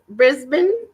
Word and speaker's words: Brisbane: Brisbane?